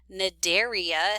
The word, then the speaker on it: Cnidaria: So the next phylum we are going to discuss is called phylum Cnidaria, C-N-I-D-A-R-I-A. The C is silent, and this phylum contains your jellies and your corals.